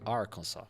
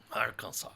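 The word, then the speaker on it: Arkansas: do arcansas que lá Inclusive a pronuncia arkans arkans não tem o s no final beleza foi minha primeira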